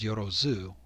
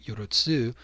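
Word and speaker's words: よろず: want to note that the text itself is written Yorotsu for 10,000, even though the way that it's usually pronounced is Yorozu. And so instead of TSU, it's ZU, like Yorotsu versus Yorozu.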